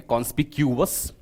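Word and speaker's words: conspicuous: मतलब क्या होता है अगर आप इसको प्रोनाउंस करेंगे तो प्रोनाउंस इस प्रकार करेंगे कॉनस्पक्यूस कोई चीज सुस्पष्ट तरीके से दिखाई दे।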